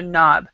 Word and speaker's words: knob: know a k and the K is always uh silent so knob what is a knob